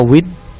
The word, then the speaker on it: vid: Nah, kata Weda berasal dari bahasa Sanskerta yang berakar dari kata wid, ya, bacanya wid, yang artinya ilmu pengetahuan.